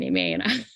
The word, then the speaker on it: Aimée: So you say la bien, and then aimée. La bien. Aimée. So if you're pronouncing it phonetically, it's like EH-MAY. Aimée.